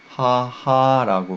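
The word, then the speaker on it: 母: 하하라고 발음한다는 거죠.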